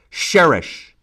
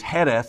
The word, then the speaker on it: Jerez: Sherry the actual appalation is uh Sherry Heth sherish so you got the British pronunciation you've got the Spanish pronunciation and you've